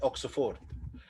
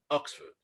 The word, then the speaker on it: Oxford: write at oxford okay many people say it oxford and we write it ox ford in arabic like this but also it's not for right it's not oxford yes it's not oxford it's oxford oxford this is one of